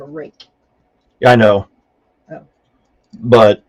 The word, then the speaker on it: Ruike: But it's pronounced rake, but that's how it's spelled, and so I mean it doesn't make any sense at all.